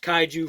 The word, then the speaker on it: Kaiju: Obviously, like you saw on the front, it's got the nice picture of the Kaiju, and that's actually pronounced Kaiju from Redcat.